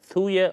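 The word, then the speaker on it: Thuja: what is something called spell t-h-u-j-a shuja or thor you know different spellings sorry different pronunciations thuya ortuja t-h-u-j-a any homeopathy go to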